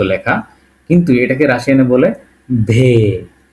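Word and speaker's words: В: সেটা কেমন দেখেন ইংরেজিতে এই যে এইযে এইযে বি এর মত লেখা কিন্তু এটাকে রাশিয়ানে বলে ভে ভে কি বলি উচ্চারণটা ঠিক আমি যেভাবে বলতেছি এভাবে করার ট্রাই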